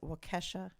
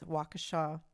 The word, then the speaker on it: Waukesha: the name so in the live stream i pronounced it wakesha and it's waukesha so i apologize for that and also i